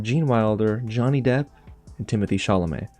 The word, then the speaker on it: Timothée Chalamet: Wilder, Johnny Depp, and Timothée Chalamet, or Timothée Chalamet. That's seriously how you pronounce his name properly.